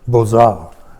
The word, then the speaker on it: Beaux-Arts: It really, if you pronounce it in the French way, it would be Beaux-Arts, but we call it the Beaux-Arts, you could get in there if you performed.